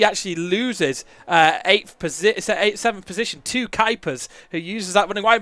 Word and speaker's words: Kuipers: It's Timo Kuipers.